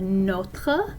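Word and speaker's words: nos: here so we have not notra and notra it doesn't change for masculine singular feminine singular or feminine singular plus vowel for the plural form we have no no with a silent s and it's almost identical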